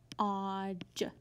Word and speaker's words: dodge: We have trigraph DGE at the end, so we're going to underline it, mark out the E and the D, and put a dot over the G because it makes the soft G sound.